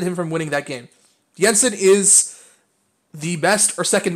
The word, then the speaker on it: Jensen: out I just had told that it's actually pronounced Jensen and I ensign I like there for a second what's gonna stop what stop against yeah Jensen from being in the top five I mean